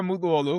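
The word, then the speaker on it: Mutluoğlu: Uh, my name is Muolu. That's my last name. That's how you say it. The G is supposed to be silent. It's a Turkish last name. There's supposed to be a squiggle on it, but we don't have it here.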